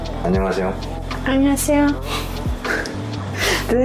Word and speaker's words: 안녕하세요: Yeah, say 안녕하세요. 안녕하세요. Did I say it wrong? No, you said it right. 안녕하세요. 안녕하세요. Everything perfect except for 안녕. 안녕. 안녕하세요. Yeah, that's better.